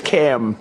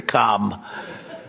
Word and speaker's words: Kamala: It's Cam, right? Cam, as opposed to Calm.